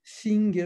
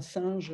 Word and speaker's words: Synge: Il y a eu notamment le fameux Synge, alors S-Y, NGE, alors c'est pas singe, hein, mais bon, vous